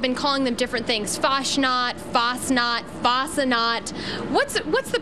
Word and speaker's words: Fastnacht: morning people have been calling them different things fosnot fnot fut what's what's the proper pronunciation fosnot Donuts okay F let's as far as car's